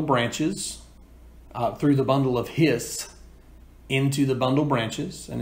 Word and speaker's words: His: through the bundle of hissed into the bundle branches and it's important it's pronounced hiss like a snake the bundle of hysts